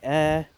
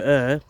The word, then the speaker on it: Ure: It's spelt U-R-E, River Air, and this little sign